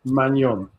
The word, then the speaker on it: Maignan: France's goalie is pronounced Maignan.